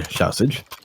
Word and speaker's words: Shausage: being bought here by Shausage. Shausage, I have been informed that's how you pronounce his name, but for safety purposes, I'm just gonna say Xiao, because I keep on wanting to say sausage.